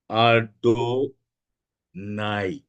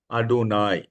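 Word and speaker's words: Adonai: शुरू करते हैं पहला नाम है आडोना आडो आडो नाई आडोना spelling A डी ओ एन ए आई लिख लिया तो आप लोग ऐसे दिखाइएगा आडो नाई वेरी गुड आडो नाई ए डी ओ एन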